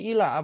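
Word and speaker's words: إلى: Cara bacanya ilah dan cara penulisannya seperti ini. Ada ya yang seperti ini ya, ada ya yang tidak dibaca.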